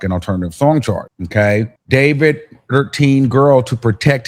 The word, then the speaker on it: d4vd: David pronounced uh D4 VD pronounced David gained popularity among Gen Z fans for his blend of indie rock, R&B, and lo-fi pop.